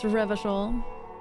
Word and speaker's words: Revachol: I know that Revachol is pronounced Revachol.